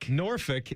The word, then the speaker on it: Norfolk: Norphick is how you say it, but you would just say Norfolk.